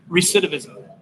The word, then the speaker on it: recidivism: I I did help you like help you pronounce the word recidivism can you say it recidivism awesome see that's how good of a teacher